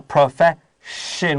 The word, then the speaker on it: profession: over the profession so profession has a special pronunciation we have ss but meow like kiss right so we have a uh profession with an sh sound so over ss please